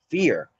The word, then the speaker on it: FAIR: That's like the gasoline for for the findable, accessible, interoperable, and reusable, which is FAIR principles, FAIR, but that FAIR is pronounced fear.